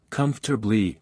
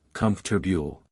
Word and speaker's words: comfortable: For example, saying, comfortably, instead of, comfortable, which should be pronounced more like, comfortable.